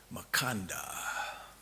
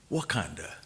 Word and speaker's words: Makanda: Makanda. Please don't fault me that if, when I shared with my family and friends about this trip, I may have mispronounced Makanda, Wakanda, as in the kingdom of.